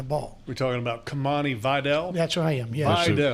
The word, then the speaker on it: Vidal: We're talking about Kainani Vidal? That's what I am, yeah. Vidal. Yes. I was thinking that might be a suit company. Rhymes with Wydell.